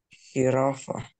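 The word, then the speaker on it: jirafa: Читається як глухе. Як глухий Х. Тобто завжди це Х.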